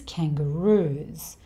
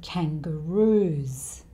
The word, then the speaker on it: kangaroos: The plural of kangaroo is kangaroos. So the S here sounds like a Z.